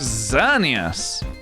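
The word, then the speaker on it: Xerneas: find out nope it's Zenus is how you pronounce it xerus very very disappointed uh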